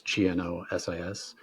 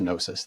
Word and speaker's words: Gnosis: Like you said, it's Gnosis. The G is silent, so it's just Gnosis Therapy.